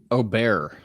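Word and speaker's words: Åberg: Aubert is how it's pronounced. Aubert. I keep saying it wrong.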